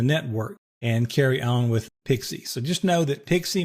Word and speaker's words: PXE: pre-boot execution environment you'll also hear this thing pronounced pixie and this is where we boot a computer from Over the network from a network card we can kind of wake the computer up using this pixie functionality and then installation files are delivered over